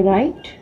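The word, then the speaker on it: write: आई राइट। W silent है तो आई के बाद हमारा आर आ रहा है, आई हाफ बनाकर राइट, आई राइट।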